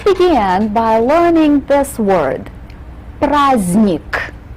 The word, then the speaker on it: праздник: Right in the middle, we have the letter D, but this letter is mute. It's not pronounced. This doesn't happen very often in the Russian language, but sometimes we do have these mute letters just sort of sit there and don't do anything.